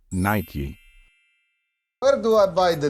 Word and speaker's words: Nike: do you pronounce it there is nothing wrong if you pronounce this word as Nik some native speakers say it this way however the most popular way to pronounce it is Nike where do I buy